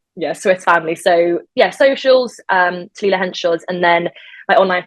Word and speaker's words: Talilla: No one can ever say Talilla, but it's spelled Tallilla, and then Henchoz.